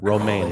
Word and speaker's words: Romijn: It's like Rebecca Romijn. My goodness. Okay, you gotta have to pronounce that. Romaine, like the lettuce.